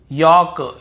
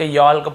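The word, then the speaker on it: yolk: के पहले हो देखिए यहां पर भी हम टॉक टॉक वॉक वॉक चौक चौक यक यक फॉक फॉक ऐसे पढ़ कहीं पर भी टॉक वाल्क चालक यल्क फॉल्क नहीं पढ़ रहे लेकिन येय गलत बोल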